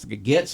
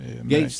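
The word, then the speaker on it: Gaetz: Getz is the is that how you pronounce the guy's name? Gates.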